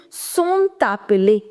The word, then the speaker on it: sont appelées: If a word ends with a consonant and the next word begins with a vowel, in that case you will start pronouncing the last consonant as well. You'll say sont appelés.